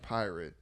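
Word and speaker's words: PYRT: this new Venture called py RT pronounced pirate uh and he's supposed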